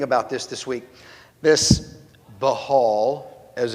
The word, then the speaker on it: Baal: This behal as it's supposed to be pronounced, but Baal, which is what I grew up saying, so it's what I'm going to keep saying.